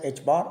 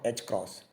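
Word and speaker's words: ħ: into 10us 34 J seconds so it is pronounced as H bar or H cross since the units are those of energy time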